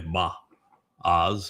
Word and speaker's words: Boaz: Uh the proper pronunciation is probably ba oz or ba o it means in strength with power fortified.